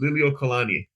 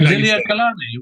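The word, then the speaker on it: Liliʻuokalani: Yeah, it's because there's that U in there. It's Liliu Kalani, but it's just pronounced Liliu Kalani. Just like Liliu Kalani.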